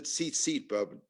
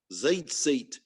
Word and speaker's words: tzitzit: It's the tzitzit, buddy. Tzitzit, zeitzit, as it's pronounced in some parts of the Deep South.